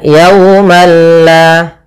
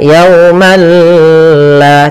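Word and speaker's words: يوما لا: Kalau dia idgham, maka kita ganti di sini langsung dengan lam. Berarti balla. Maka di sini malla. Maka yaumalla. Tapi perlu diingat bila gunnah berarti tidak disertai dengan gunnah, sehingga langsung saja, tidak boleh ditahan, tidak dibaca yaumalla, tidak, tapi langsung saja yaumalla.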